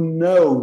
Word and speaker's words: know: A pronúncia é exatamente a mesma do know, do não. Know. Mesma, igual, igual. Então, I know. Não se confundam.